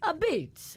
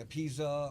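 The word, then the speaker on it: apizza: story behind the name so uh when you pronounce it it's a beats a beats yeah our uh you know it's it's a p i z Za so people say a pizza or or or all that so it it's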